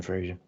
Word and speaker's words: Fraser: Yeah, it's Fraser with the Scottish pronunciation. He did say on a thing recently that everyone pronounces it as Fraser and gets it wrong. So you're right. I apologise, Brendan Fraser. It's because it's a Scottish name, right? And it's only in Scotland that it's pronounced Fraser. Yes, I apologise, Brendan, and